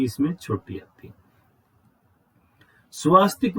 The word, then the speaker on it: स्वस्तिक: स्वास्तिक का जो सही शब्द है वो स्वस्तिक है, स्वा नहीं है। स्वा हमने उच्चारण में बिगाड़ रखा है उसको, सही शब्द है वो स्वस्तिक होता है।